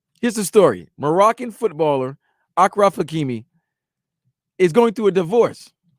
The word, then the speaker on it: Achraf Hakimi: If I'm pronouncing it wrong, I'm sorry. Apologies. My apologies. I think it's Achraf Hakimi.